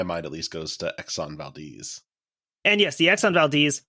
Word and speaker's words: Exxon Valdez: But yes, I know that it is pronounced Exxon Valdez.